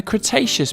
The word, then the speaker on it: Cretaceous: about a hundred million years ago in the cretaceous period kra tay chess so what have we learned we learned